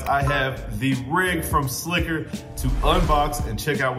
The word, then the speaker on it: SLCKR: out to my guys and check how to pronounce this obviously guys it is s l c k r slicker slacker i wasn't really sure guys it is slicker